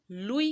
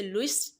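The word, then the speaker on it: Louis: इस बात का ध्यान रखिएगा, लुइस एक फ्रेंच वर्ड है। बेसिकली इसे फ्रेंच में लुई कहते हैं, एस साइलेंट है। तो इट्स अप टू यू, आप इसे लुइस प्रोनाउंस करें या लुई प्रोनाउंस करें।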